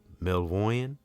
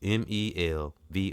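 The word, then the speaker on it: Melvoin: the guars Wendy M mvoy mvo I might have said her name wrong Wendy mvo mvo it's m e l v o i n Wendy melv since 1983 uh Prince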